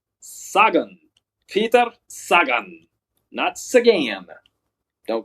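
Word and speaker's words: Sagan: three time world champ Peter pita SI gan pronounced saw gun saggin peta saggin knots again don't go calling him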